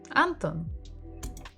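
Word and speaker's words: Антон: in many other languages Anton or is it anthem Anton again second syllable everything is on the second syllable a third visit for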